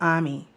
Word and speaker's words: Amy: we would say amy they spell it amy but in the movie they pronounce it ami hey father's time they produce they pronounce it ami and she's the lead